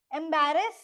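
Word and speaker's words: embarrass: rule नहीं है कोई बस इतना समझ लो कि एंबरेस में अ एम ई पे इस पे ज्यादा एम्फेसिस है एंबरेस सेकंड वाले पे इस पे एफेसिस नहीं है तो डबल आर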